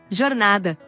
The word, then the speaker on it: jornada: El fonema de la J en español no existe en portugués como tal. En cambio, el sonido fricativo postalveolar de la J en portugués no existe en español. Jornada.